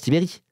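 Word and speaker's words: Tiberj: Oui, ça se prononce Tibéry, c'est bien ça, Tiberge, ça se prononce Tibéry.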